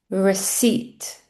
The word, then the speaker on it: receipt: The second one, try and listen to which letter is silent here. Receipt. Receipt. Not receipt. Receipt.